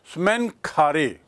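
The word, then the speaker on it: Smenkhkare: एक गद्दी पर आता है जिसका नाम था स्मैन खारे, एस एम ई एन के एच के ए आर ई. देखिए इसकी spelling, S एम ई एन के एच, स्मैक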